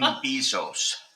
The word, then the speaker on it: Bezos: In the blue quarter, Team Bezos. Or Team... How to pronounce?